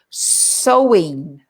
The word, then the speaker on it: sowing: Sowing. Now, sowing. That's not sewing with a needle and thread, is it? Not sewing your shirt. It's not SEW, but it's the same pronunciation.